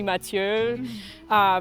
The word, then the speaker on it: Mathieu: me yeah well I I normally do like a sort of like American French hybrid when I pronounce my name I usually say mat uh but if you were